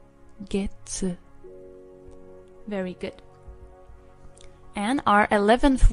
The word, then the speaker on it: 月: And if we take a look, in this context, when we use month with the word yobi for day of the week, we pronounce it as getsu. Getsu.